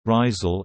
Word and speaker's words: Rysel: Lille, French pronunciation, Lille, listen, Dutch, Rizel, Rizel, West Flemish, Rizel, is a city at the northern tip of France, in French Flanders.